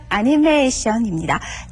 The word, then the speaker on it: アニメーション: 애니메이션입니다. 중간에 장음 들어있는 것 잊으시면 안 되죠.